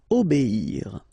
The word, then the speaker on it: obéir: O, B, and after that you get the ir, okay? Obéir. Lutter.